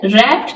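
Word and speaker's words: wrapped: में W silent है रैप्ड में भी डब्लू साइलेंट है रैप कहते हैं किसी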